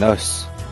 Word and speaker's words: os: Avant d'en parler, il faut préciser que lorsqu'il n'y en a qu'un, on prononce alors un os. Quand il y en a plusieurs, on prononce les os.